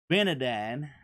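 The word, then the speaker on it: Ben-hadad: benide is how you say that name he went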